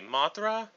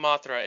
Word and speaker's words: Mothra: The name Mothra is a suffocation of Ra, a common last syllable in kaiju names to moth. Since the Japanese language does not have a dental fricatives, it is approximated Mothra in Japanese.